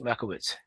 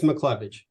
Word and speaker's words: McClevich: Mekowitz? No, sir, I do not. I must apologize to you, sir. I've mispronounced your last name. What's the correct pronunciation, please? It's McClevich.